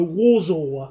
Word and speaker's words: Warsaw: To say Warsaw, you say W like a V. So, Warsaw.